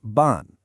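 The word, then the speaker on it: 半: hun, which is pronounced ban, and it means half. Now, the pronunciation ends in an. So, we can use the same set, your home. But this time, it's what's called the fourth tone.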